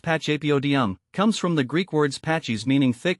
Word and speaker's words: Pachypodium: help you master it pacap Podium pronounced pachap Odum comes from the Greek